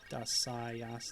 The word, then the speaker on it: Dasaiyas: Dasaiyas, Darius. Yeah, they just replaced the middle syllable with sai, I think is how that works. It doesn't come off quite